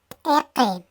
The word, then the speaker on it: iki: Se escribe iki, se pronuncia eke.